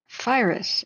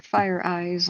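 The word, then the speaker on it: FIRIS: 7 minutes ago, Firus is how he said it. So I think maybe that's how you pronounce it. It's not Firus or Fire Eyes like I thought would be cool, but Firus. Firus.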